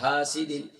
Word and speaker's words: حاسد: وَمِن شَرِّ حَاسِدٍ إِذَا حَسَدَ. وَمِن شَرِّ حَاسِدٍ إِذَا حَسَدَ. اکثر اس میں غلطی کیا کرتے ہیں، پڑھتے ہیں وَمِن شَرِّ حَاسِدٍ إِذَا حَسَدَ. وَمِن شَرِّ حَاسِدٍ، ہا نہیں ہے، ہا ہے، اور پھر شین کے بعد را مشدد ہے.